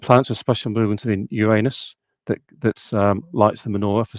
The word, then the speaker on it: Uranus: One is that I really believe that the pronunciation of Uranus is actually Uranus.